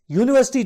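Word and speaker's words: university: आप देखिए अ यूनिवर्सिटी एक यूनिवर्सिटी यूनिवर्सिटी जो है वो यू से स्टार्ट हो रही है बेशक यू वावल है लेकिन यू से स्टार्ट हो रहा है आप साउंड देखो यू यूनिवर्सिटी यू जो साउंड है वो वावल साउंड नहीं है यू की अ वावल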